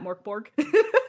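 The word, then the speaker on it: Mörk Borg: that's what the uh the o with the like the umlout over it makes the o into a u sound absolutely all right yeah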